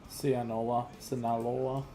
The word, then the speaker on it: Sinaloa: Sinaloa.